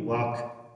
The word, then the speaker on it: walk: یعنې ال به نه تلفظ کوئ would میل ته ویل کیږي یا غوښتنې ته ویل کیږي. should باید معنا ورکوي. walk قدم وهل معنا ورکوي.